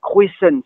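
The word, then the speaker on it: kroazhent: Alors, croix des chemins, carrefour, on doit prononcer cruicent.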